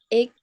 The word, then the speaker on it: age: It's the same age as my mother. Cara baca ini gimana? Age. Ya, age. Bukan egg.